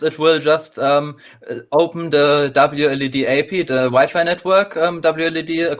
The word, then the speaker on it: WLED: koshy right now um i pronounced it wled so each letter separately but you're fine to